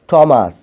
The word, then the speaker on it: Thomas: এবারে 4 নম্বর দেখো, কখনো কখনো TH টয়ের মতো উচ্চারিত হয়, THও টয়ের মতো উচ্চারণ হয়। যেমন থমাস, THOMAS, থমাস।